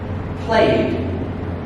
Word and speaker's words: played: The next way of saying ED is the sound D. Okay? Here it's T. Here it's D. Can you hear the difference? Here's an example. The verb played. Again, slower. Played. Do you hear the D? Letters E and D make the sound D. Played.